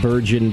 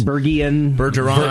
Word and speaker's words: Burgeon: Burgeon. Burgeon. We get a lot of Virgin. Yeah. Well, it's derived from burgeoning, like if you were a burgeoning brewery, right?